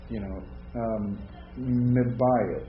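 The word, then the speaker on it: מבית: So you don't double it, you just sort of hold on a little. Yeah. Or not even do that. Mibayit. You might say mibayit. I mean, it's kind of tough to, pronounce a buh any longer than buh, isn't it? But you don't pronounce it twice.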